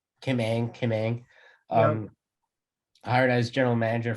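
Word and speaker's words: Kim Ng: I don't know how to pronounce her last name. Like Kim Ang. Kim Ang.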